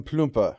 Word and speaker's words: Plumpe: it certainly the oldest to survive friedrich wilhelm plumper i am told it is pronounced son of the owner of a cloth